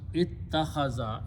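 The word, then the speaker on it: اتخذ: Okay, these two are pronounced together as a ta with a shadda in this bab. This is a specialty. So it becomes ittakhaza.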